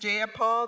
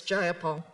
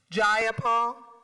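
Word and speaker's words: Jayapal: you agree with Miss ja Paul that there was no takeover was just if you're going to say my name please say it right it's jaul jaul do you would you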